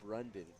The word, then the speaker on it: Brandon: He it's spelled Brandon in the character's name, but he pronounced it Brundon, and it was a very vocal point of the scene.